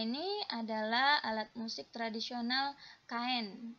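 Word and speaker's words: khaen: adalah alat musik tradisional kain ya Khan gitu bacanya nah ternyata kain ini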